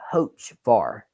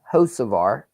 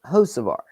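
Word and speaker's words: Hocevar: updates for CBS today they kept calling him ho varar ho varar and I ask you guys all the all the time about how to pronounce names but there is one thing I am sure of and that it's you pronounce Carson josar Carson josar but yeah somebody kept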